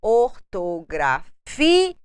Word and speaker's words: ortografia: Nós colocamos uma tonalidade mais forte quando nós falamos ortografia. Nós temos uma tonicidade, uma força maior na penúltima sílaba e é uma paroxítona não acentuada porque termina com a letra A.